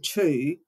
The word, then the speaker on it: two: The silent W in 2 actually links the word to its history. And in fact, in the related words, we actually pronounce a W.